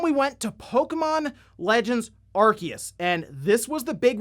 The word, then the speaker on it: Arceus: also it's good to know that it is pronounced pokemon arceus by the way because i saw this going